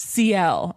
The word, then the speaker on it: Ciel: Oh, it's pronounced Ciel.